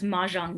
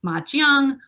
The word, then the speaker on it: Mahjong: But in Shanghainese, which was, again, that was the region where it emerged, it would have been pronounced Mojiang. And that sounds a lot like Mahjong, which is the current Chinese name.